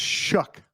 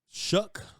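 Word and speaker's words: Shough: S H O U G H makes shook.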